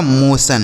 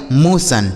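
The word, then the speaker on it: motion: एम ओ टी आई ओ एन। तो एम ओ से दोस्तों हो जाता है मो। क्या हो जाता है? मो और टी आई ओ एन का उच्चारण क्या हो जाएगा? सन। यह लिखा गया आपका मोशन।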